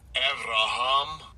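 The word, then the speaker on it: אַבְרָהָם: And again, I'll give you a pronunciation here. Strong's H85. Avraham.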